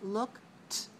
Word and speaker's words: looked: we write l-o-k-e-d and we pronounce looked with it sound looked i looked i looked